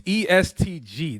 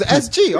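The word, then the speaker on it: EST Gee: who is that what was it bro it's estg that's how you pronounce it yes yes sir I thought it was SG all right my bad or they call them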